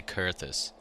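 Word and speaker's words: Coerthas: the cerus Western Highlands I got to start learning to say cus because that's the official pronunciation but I always want say coer this I don't know it's the way it's spelled like come on to the Frozen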